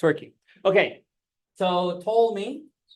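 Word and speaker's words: Ptolemy: it's working okay so to me we don't pronounce the P silent P like pterodactyl right okay to me was important to the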